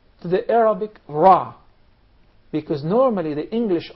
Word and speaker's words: ر: I wonder, this letter for the English speakers is pronounced totally different, from a totally different articulation point than the letter Ra in Arabic.